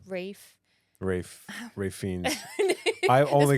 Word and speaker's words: Ralph: Ray fiends even though it says Ralph like that's how it's spelled and you say Rafe Rafe Ray Fiend I